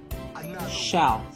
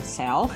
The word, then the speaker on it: shelf: Shelf. Okay, here you go. Shelf. Good. Kamu tidak mengatakan self atau self, tapi shelf.